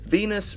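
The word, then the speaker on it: Venis: people number nine Val Venus movie producer Venus rhymes with penis do you get that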